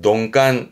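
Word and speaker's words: 鈍感: 둔감한 건 농간, 농간. 뒷글자는 염자.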